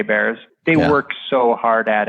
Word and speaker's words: Baer: Jay Baer books and a beer bear is spelled ba er yep so you and